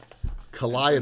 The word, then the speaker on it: Calliope: So we will give away Calliope. donations. I pronounced it correctly.